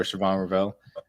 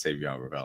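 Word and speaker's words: Shavon Revel: I don't like him as much as Trey Amos um or Siobhan Rell. Um so, it's Savon. It's Savon Revel. I gota get in the habit of saying it correctly.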